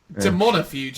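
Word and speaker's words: Daemonifuge: you think it is it's Demona is the correct answer there's no points for it but I'm glad you pronounced it and not me Demona fuge it's almost like Joe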